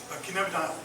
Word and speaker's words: cannabidiol: But I also read that just because of the way plants sometimes work, that how do you pronounce that? Cannabidiol? Cannabidiol. Cannabidiol, thank you.